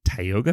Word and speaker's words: Tioga: And then we get to Tioga Pass, is how you say it?